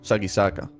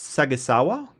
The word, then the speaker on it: Sagisaka: So this is sa gi sa ka, right? Like that's how it is sort of done.